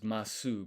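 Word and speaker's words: ます: So this is masu, but you don't pronounce this u at the end.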